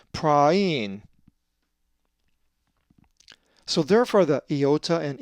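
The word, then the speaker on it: πραΰν: Just remember, when you see the double dot, pronounce each vowel separately. A Greek word that has the eepsilon theoresis is praein, which means gentle and is the accusative of 4239. It's not praven, as the alpha epsilon diphthong would normally be.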